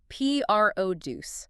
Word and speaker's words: produce: When we use it as a noun to talk about the fresh fruits and vegetables in the supermarket, the stress or the heavy emphasis lands on the first syllable. P R O deuce. The produce section.